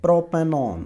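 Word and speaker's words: propanone: ऑन जिसको कहते हैं, प्रोपेनॉन, वन नहीं है ये, इसको ऑन कहते हैं, प्रोपेनॉन।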